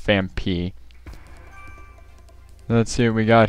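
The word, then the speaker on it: Phanpy: I used to call Fampi Famfi, which everyone seems to do nowadays, but it is pronounced Fampi.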